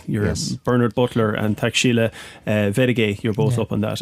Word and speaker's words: Wedage: You're Bernard Butler and Taxila Vedage, you're both up on that, and that's spelled WEDAGE.